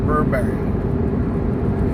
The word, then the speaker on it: Burberry: to see Birkbeck robbery I always pronounced that we're Barry but then that person was pronouncing it Burberry so I don't know